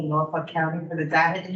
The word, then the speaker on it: Norfolk: Yeah, I think the confusion is on how you're saying Norfolk, because you're not saying it, if you're not swearing at the end, you're not saying it right.